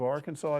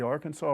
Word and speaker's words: Arkansas: do they really believe that the state of Arkansas it's pronounced AR Kansas and do they believe the Arkansas River is Aransas Riveras River do they really